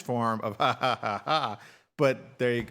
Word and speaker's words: jaja: So whenever you see Jaja, how do you pronounce that? Ja. I don't know. That's exactly what I used to think. Okay, so see, I'm not the only one. No, it's ha ha ha ha. It's the Spanish form of ha ha ha ha.